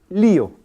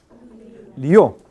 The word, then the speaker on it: lío: ver pronuncien por favor lío lío hay gran diferencia lío siendo vocales yato la duración de ambas vocales son más o menos iguales a ver Río rí